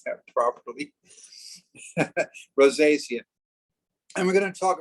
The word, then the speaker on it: rosacea: um rosacea rosacea just make sure everybody can pronounce that properly rosacea and we're going to talk about psoriasis and